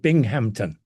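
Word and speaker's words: Binghamton: Um, let me just um pronounce the word Bingampton. Okay. Um, no P in it unlike the English and the other places.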